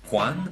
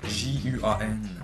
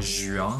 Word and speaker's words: Juan: Ça se dit Juan, mais ça s'appelle J-U-A-N. Allez savoir. Non, c'est une blague, c'est parce que c'est un nom en espagnol. Et en espagnol, on prononce pas le J, on prononce plutôt un qui fait que mon nom ne soit pas Juan, mais plutôt Juan, en fait, en tout cas.